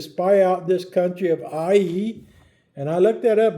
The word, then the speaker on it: Ai: out this country of AI. And I looked that up, by the way. That's how it's pronounced, AI. Not I. Like I always say, I but it's AI.